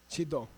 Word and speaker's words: chido: Chilo? Chido? Chido.